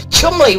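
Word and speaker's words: Cholmondeley: though and chun li says david who's texting chumley which is spelled chalmundly is in cheshire of course yeah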